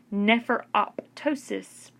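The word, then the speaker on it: nephroptosis: displace never up toast this is how you pronounce that word never op ptosis means that it says never op ptosis can occur from a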